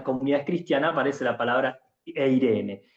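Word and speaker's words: εἰρήνη: 70 o la Septuashinta, donde la palabra eh shalom se eh se lee e ire. Paz es eirene. Sí. Así se lee, se escribe en griego, se recibe la palabra todas las veces.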